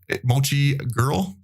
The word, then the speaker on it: MochiGirl: Remember to check her out on Twitch at MochiGirl, not Mochi or Maki.